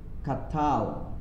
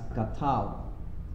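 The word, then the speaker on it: קָטַל: so all right so you read this as catal because the the accent falls on the last syllable especially in the hebrew language so you read this as qatar he killed all right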